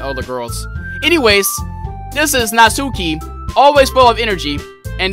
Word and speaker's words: Natsuki: said your name wrong i thought you were nazuki but i guess this is natsuki and this is who